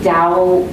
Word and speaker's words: Dao: and he's written it's sometimes it's pronounced like a d but it's hard to translate the this language so it comes out um with a t but it's really dao tao is how you